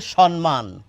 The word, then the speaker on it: সম্মান: আমরা অনেককেই বলতে শুনি এই শব্দটিকে সম্মান। কিন্তু তা একেবারেই নয়। কেন তা নয়? দেখুন এই যে যুক্তবর্ণটি এই যুক্তবর্ণটিকে যদি আমরা আলাদা করে লিখি তাহলে এরকম হয়। এই যুক্ত বর্ণটিকে যদি আমরা ভেঙে লিখি তাহলে এরকম হয়। দেখতেই পাচ্ছেন এখানে দুটো ম রয়েছে। তাহলে এটি সম্মান কি করে হবে? সম্মান বললে একটি ন এসে যায়।